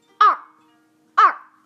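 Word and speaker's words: 二: this is number two the pronunciation is like this ah ah the writing is like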